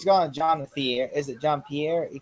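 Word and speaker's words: Jean-Philippe: He's calling John the Is it John Pierre? He called him John. It's John Philippe.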